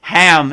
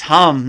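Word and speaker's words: हं: I first got initiated I said the same thing ham and they all started laughing like it's hum not ham so I always laugh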